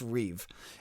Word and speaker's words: Rueve: one is matt reweave it's r-u-e-v-e but it's pronounced reeve and he is from